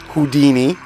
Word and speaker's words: Whodini: rap duo, I believe, called Houdini. And it's spelled like Whodini.